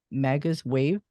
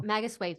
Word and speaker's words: Magus Wave: uh to Anna at magazwave PR I guess that's is that how you pronounce it no Magus wave yes yeah yeah thank